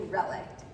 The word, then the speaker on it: relict: First I thought it was relic, and I thought, wow, that's harsh. You know, like, dang. Dang, that is just harsh. But it's actually relict.